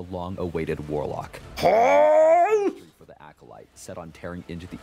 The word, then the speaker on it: acolyte: corrupting their spirit so I've been saying acolyte wrong just so you all know I know there have been people telling me in the comments like you're saying it wrong but okay acolyte acolyte got it okay we're good the